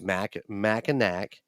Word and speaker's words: Mackinac: I did a pronunciation on an app. I spelled it out, and you heard it in that episode, and it's Mackinac. Well, yeah, you look at how it's spelled. There is no really disputing it because, like I said, there is no language that I know of that pronounces the NAC as "naw."